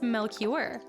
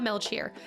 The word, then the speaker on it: Melchior: French, it's Melchior. It's not Melchior.